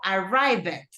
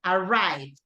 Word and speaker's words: arrived: Que yo realmente pronuncio esta ED, wanted, started, pero en casos como este de acá, yo no digo arrived, el sonido es mucho más sutil. It's arrived. ¿Okay?